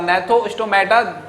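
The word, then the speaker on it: Gnathostomata: उसके बाद जो नैथोस्टोमेटा देयर, यहाँ पर जो जी है वो साइलेंट रहेगा तो इसलिए हम पढ़ेंगे नैथोस्टोमेटा।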